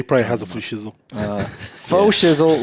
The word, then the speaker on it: faux: well, it's spelled F-A-U-X, which is like fake. Fake, yeah. So How do faux you shizzle. how do you, Faux. It's pronounced faux. Faux? Is it faux? Yeah. Like faux leather.